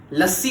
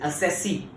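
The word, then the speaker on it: assessee: हमने बोला था ना असेसी आएगा, स्पेलिंग देख लो भाई, असेसी। लस्सी बोलते हैं कोई, हम तो प्यार से लस्सी बोल दिया करते हैं, पर इट इज असेसी।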